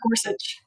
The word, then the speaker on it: Gorsuch: Because for both it was Neil how do you pronounce it? Gorsto. Gorsuch.